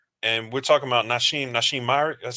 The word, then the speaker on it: Myrick: and we're talking about Nashim Myrick. That's how you pronounce his last Nashim name.